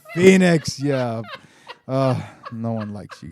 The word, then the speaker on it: Phoenix: and change my name but I'll spell it like pho e two E's and and e OE and ICS phonics Joaquin Phoenix Phoenix how many times I gotta tell you it's Phoenix yeah no one likes